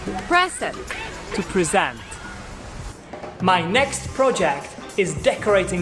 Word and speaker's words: present: onto that yellow wall you notice the difference in the noun you put it in the first syllable but if when it's working as a verb you put it in your second season and then in that case your pitch goes higher in the technical or in the first one depending here are some